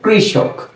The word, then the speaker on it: কৃষক: এরপর যদি আমরা একটি মূর্ধন্য স লিখি, এই লিখলাম একটি মূর্ধন্য স, তাহলে এর উচ্চারণটা হবে ক রিকার ক্রি মূর্ধন্য স, কৃষ।